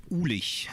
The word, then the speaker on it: Uhlig: How do you pronounce it? Uhlig. It's like super German.